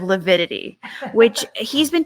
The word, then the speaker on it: lividity: Another thing John Pryor kept saying during one of his cross-examinations was lapidity instead of lividity, which he's been pronouncing things wrong.